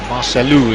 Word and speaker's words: Marcelo: Or Marcelo, as the Brazilians pronounce an O at the end of their name.